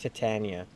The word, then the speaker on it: Titania: That's pronounced Titania.